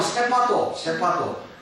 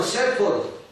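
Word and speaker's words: shepherd: 그게 영어 성경에 보면은 여호와는 세퍼트이시니, 우리말로 하면 세파도. 이게 일본식 발음이잖아요. 영어로는 세퍼드, 추적자예요, 추적자.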